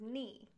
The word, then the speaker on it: knee: letters so for example the word knee has a silent K in the beginning for our purposes we're just going on the sound that the word makes so the K is not important we don't have a K sound so all we have